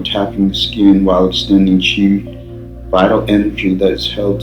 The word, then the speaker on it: qi: Qigong massage involves lightly massaging or tapping the skin while extending qi, pronounced qi, vital energy that is held to animate the